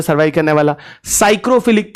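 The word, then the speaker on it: psychrophilic: प सरवाइव करने वाला साइक्रोफिलिक पीएस वाई जिसको बोलते हैं पी से स्टार्ट होता है पी साइलेंट होता है साइक्रोफिलिक मिलेगा कम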